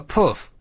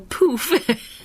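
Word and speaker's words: pouffe: Now, how do you pronounce this next word? P-O-U-F-F-E. A puff. Yes, or poof, if you want to So say Wayne it would silly.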